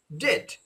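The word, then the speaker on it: debt: এটাকে আমরা ডেথ বলি, ডেপ হবে না, এটা উচ্চারণ হবে ডেট, ডিইটি, ডেট, কারণ এখানে ই উচ্চারণ হবে না।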